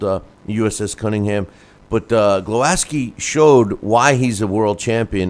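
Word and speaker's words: Głowacki: cruiserweight champ Kristoff glowaski I've been calling him glowaki because it's kind of spelled that way but uh Kristoff glowaski uh was who beat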